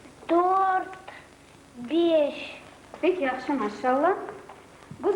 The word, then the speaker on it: dört: Губы вытягиваются немного вперед, язык тоже впереди. Ü, üç, Ö, dört.